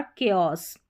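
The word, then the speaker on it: chaos: अब यहां पर देखिए सी एच को क भी पढ़ा जाएगा। सी एच को क पढ़ा जाएगा। यहां पर है केमिस्ट्री, कैरेक्टर और केओस। क्या हो गया? केमिस्ट्री, कैरेक्टर और केओस। इस तरीके से तो बड़ी-बड़ी स्पेलिंग्स में सी एच को क प्रोनाउंस कर रहे हैं।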